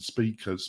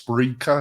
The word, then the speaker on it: Spreaker: I said speakers, but Spencer's right, it's Spreaker or whatever.